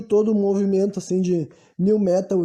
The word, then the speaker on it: Nu Metal: Muitas vezes escrito como Nu Metal, mas normalmente pronunciado como New Metal, né?